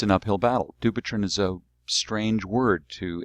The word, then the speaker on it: Dupuytren: lack of public awareness it's an uphill battle do patron is a strange word to English speakers it's hard to pronounce it's hard to spell it doesn't rhyme